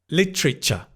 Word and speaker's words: literature: Literature. Literature. I know, strange, right? Literature. The tr it becomes T e r becomes tr like train. Lit. Lit train. Literature.